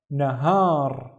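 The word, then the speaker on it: نهار: I see a syllable starting here and a syllable starting there. So the first syllable is na. The second syllable, we see this long in here, so this is the ha breathing. So this is har, har, nahar, and nahar means daytime.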